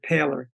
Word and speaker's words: Poehler: He pronounces it Paler, but it's same as it's Poehler.